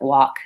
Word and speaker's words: walk: to watch out for other silent ELLs are in words like walk and talk and again it's probably